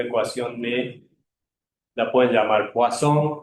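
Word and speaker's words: Poisson: Si se las dice un uno de habla inglesa les dice poison y si les dice uno de habla francesa le dice poón. Poazón era francés, así que él debe haber él debe haber pronunciado poazón, ¿no?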